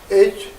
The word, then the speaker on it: Hri: Hri syllable, and Hri, as like in English, Hri, H-R-I, more like Hri, Hri. You say Hri, Hri, okay, or Hri, either way.